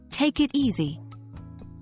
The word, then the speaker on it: take it easy: it's worth noting that take it easy is usually pronounced with a stress on the word easy try saying it out loud a few times until it feels natural take it easy as for usage take